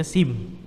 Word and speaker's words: SIM: Ya, dia tidak dieja SIM ya, dibacanya SIM.